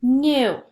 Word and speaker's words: knew: new let's practice spelling our sight word new spell it with me k n e w u nu nu notice how new was in a different